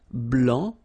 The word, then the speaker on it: blanc: feminine form here okay so here masculine BL don't pronounce the final C and then blanch okay